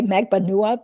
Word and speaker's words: Magbanua: I mean, that's cool if people want to say Magbanua, because that is the correct Filipino way to pronounce it.